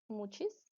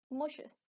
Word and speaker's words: muxes: you announce this work maybe you can pronounce it like mu cheese maybe Max's mohair Marcus we're from different places so I would like to know how would you pronounce it correct pronunciation is moshus it's a support Aiken